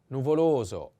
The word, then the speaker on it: nuvoloso: The first is nuvoloso, nuvoloso, nuvoloso. The accent is on the second O. Nuvoloso.